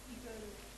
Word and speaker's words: eagle: Eagle and it, you have E and A is there. After that it's pronouncing eagle. E. But pronunciation is E only. E. A is silent.